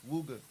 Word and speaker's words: Wuga: And I know I be mispronouncing his name, but I like I like Wugger so much, but I want to get it